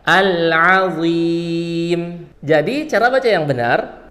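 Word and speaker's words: العظيم: rabbiyah dan yang terakhir di bagian al-azim di sini pakai huruf Ain yang keluar dari tengah tenggorokan ah Nah setelah huruf Ain itu pakai huruf DHA yang keluar dari ujung lidah bertemu dengan ujung gigi seri atas suaranya tebal al-awim jadi cara baca yang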